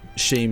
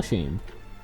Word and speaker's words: scheme: Yeah, I'm pretty sure it's a color scheme. Like something is Scheme. pronounced that Color way. scheme. It's a color scheme, not a color sheme.